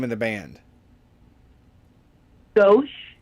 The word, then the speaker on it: Gauche: Gauche, Gauche. like the Frank word left.